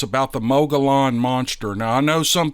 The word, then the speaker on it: Mogollon: This incident occurred in the, well, no, it's not in the, but it's about the Mogollon monster. Now, I know some people say it's pronounced Mogollon, but that's not how it's spelled.